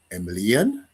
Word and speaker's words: Emilien: I have a very special guest, a very good friend of mine, Emilien. Right, that's how I Yes.